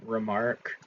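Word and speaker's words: Remarque: of anti-semitic um but if you replace the quue E with a K so you pronounce it the same remark and then spell it backwards it makes Kramer which is a traditionally Jewish name.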